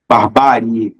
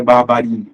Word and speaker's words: barbárie: Barbárie, não é barbarie, não é bárbare.